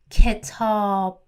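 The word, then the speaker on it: کتاب: So the only short vowel we have here is E, and the long vowel is A. Ketab.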